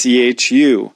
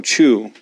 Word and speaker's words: chu: You might think, oh, chu. But actually what you want to do to really correctly make this the correct pronunciation in Chinese is take the sound ch and wu and combine them. Ch, wu, chu, chu. And you get a more correct sound for the Chinese version of it.